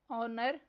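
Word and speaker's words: honour: Next word है ऑनर। इसमें silent letter H पर सर्कल करना है।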